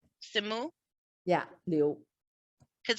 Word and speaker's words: Simu: I've never heard his first name pronounced. Simu. Simu?